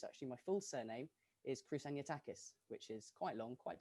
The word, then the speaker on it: Kroussaniotakis: is not british actually my full surname is krusanyatakis which is quite long quite difficult to say